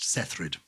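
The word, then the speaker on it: Saethryd: cythrid was born that probably it should be pronounced sethrid okay like ingrid yeah well we say cythrid her middle name is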